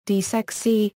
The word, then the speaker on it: DiSEqC: DiSEqC, pronounced DiSEq, is a special communication